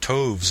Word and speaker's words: toves: as in writhe and toves is pronounced so as to rhyme with Groves again the first o